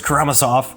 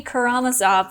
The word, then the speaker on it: Karamazov: last quarter the brothers karamasov or how do you say it we this is the debate is it karamasov or karamasov let us know in the comments they told me karamazov for like two and